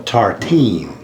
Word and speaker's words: tartine: It's called a tartine. Tartine. We had to look up how to say it.